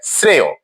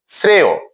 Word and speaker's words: শ্রেয়: যদি শব্দের শেষে অন্তস্থ অ থাকে এবং তার পূর্বধ্বনিতে এার থাকে তাহলে পরের অন্তস্থ অতে যে অকারটি ছিল সেটি ও এর মত উচ্চারণ হয় শ্রেয় শ্রেয় অকারটি ও এর মত উচ্চারণ হয়েছে প্রিয় শিক্ষার্থীরা আমরা পরের